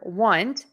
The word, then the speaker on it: want: here is the word want think of it as being spelled with a U Want whereas won't think about